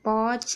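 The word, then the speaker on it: watch: बता दिया है कि टी के बाद अगर सी एच आए तो टी साइलेंट रहता है। वॉच, यहाँ पर देखिए स्नेच, यहाँ पर भी टी साइलेंट है।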